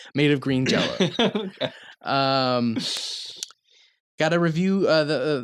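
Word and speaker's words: Green Jellÿ: the band is pronounced green jelly um yeah but this guy spells a lot of stuff wrong uh oh wait no no it's spelled green jelly but pronounced green jello that was it don't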